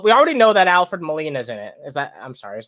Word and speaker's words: Molina: Well, we already know that Alfred Molina's in it. I'm sorry. Is that how his name is pronounced?